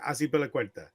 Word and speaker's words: Azpilicueta: On the back line, you have Alba, Laporte, Rodri, and Azpilicueta.